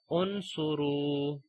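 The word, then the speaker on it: انصروا: If there is a dhamma, we read hamzatul wasl with a dhamma, like uqtulu, okay, and unsuru.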